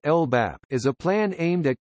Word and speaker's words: LBAP: United Kingdom, a local Biodiversity Action Plan (LBAP), pronounced LBAP, is a plan aimed at conserving the fauna,